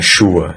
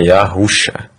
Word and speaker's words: Yahusha: Não é Shua, é Yahusha. Aí a gente desce aqui, ó, no dicionário de Strong, Yehoshua.